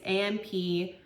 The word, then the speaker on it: ampoule: This is their Mahina product, the Biome Brightening, and is it Ampoule or Ampoule? It's Ampoule. It used spirulina and blue tansy.